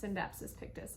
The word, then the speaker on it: Scindapsus pictus: I've heard this plant pronounced a couple of different ways. I've also heard it pronounced Scindapsus Pictus. However, I did look it up online because I like to research things, and from what I could tell from the pronunciation guide, it should be pronounced Scindapsus Pictus. I don't know if that's 100% for sure, but that's how I'm going to pronounce it in this video.